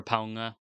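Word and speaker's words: Pauga: Anne mcclurin podcast for teaching me the pronunciation of palunga's name or ponga you're not supposed to say the g fist fight man I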